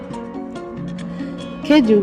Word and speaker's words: keju: Keju is pronounced similar to how we would pronounce the Portuguese word, but the only difference is that we say keju, which ends with a U vowel, and the Portuguese words end with an O vowel.